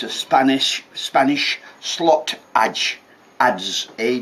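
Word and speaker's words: adze: a hole but it's a Spanish Spanish slot Edge as a d z e pronounced in Sheffield and this and this is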